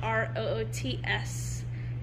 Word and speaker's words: Roots: But there's this place in Lancaster spelled R-O-O-T-S. And it's pronounced Roots. Roots?